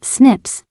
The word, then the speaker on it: SNPs: snps single nucleotide polymorphism pronounced as Snips occur in humans this